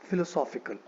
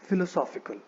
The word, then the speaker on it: philosophical: This is the first word that we have और इस word का pronunciation is philosophical. It is philosophical.